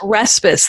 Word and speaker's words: Raspass: It's actually pronounced Raspass. The emphasis is on the first bit, but it's a weird name.